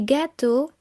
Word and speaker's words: gâteaux: So, for example, un gâteau, a cake, des gâteaux, cakes, un neveu, a nephew, des neveux, nephews. Notice that the X which forms the plural is silent.